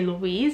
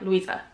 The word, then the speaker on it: Louisa: to like from school people have been saying my name wrong they always say Louise it's a little Weezer and at first I was always like Louisa like they'll say Louise